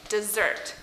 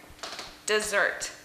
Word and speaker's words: dessert: So when we're talking about the word dessert, we want to put the stress on the second S here, so dessert. As where desert, we want to put the stress on the S here, so desert. So desert, dessert.